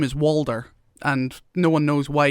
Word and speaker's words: Walder: And what's funny as well, in like the books and stuff, his actual name is Walder, and no one knows why he just started saying Hodor, and people just call him Hodor.